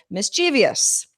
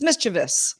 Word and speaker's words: mischievous: that I do but mischievious that's how you say it it's mischievous but everybody says mischievous and it's like there's no